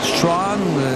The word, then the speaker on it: Strachan: Strachan, la prononciation est pas officielle. S-T-R-A-C-H-A-N. Il reste Strachan, mais eux disent Chan.